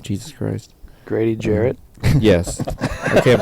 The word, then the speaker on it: Jarrett: Garrett, or Grady Garrett. Jesus Christ. Grady Jarrett. Yes. I can't pronounce names today.